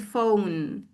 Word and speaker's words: phone: So just simply if you write the word phone, you say phone. Phone. Phone. This is phone. Whatever the spelling is, it's phone. And then you write P H O N E, not F O N E.